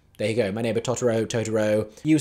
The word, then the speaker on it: Totoro: my video about that I did have comments saying I was pronouncing it wrongly incorrectly I apologize uh because the pronunciation of it within the context of the show is a Japanese pronunciation so I assumed that I was anglicizing it accurately but if it's meant to be Totoro then there you go